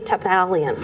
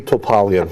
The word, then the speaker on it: Topalian: of their deacons tavalian nice to be here diane thank you for the invitation and i actually mispronounced your last name one more time on the pronunciation topalian holly yes and before